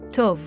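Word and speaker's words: טוב: Once again pronounced as tov.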